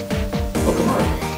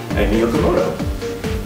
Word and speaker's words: Okamoto: Can we just take a moment to actually say it correctly? I mean, how do you pronounce it? I mean, say your name for us, please. Amy Okamoto.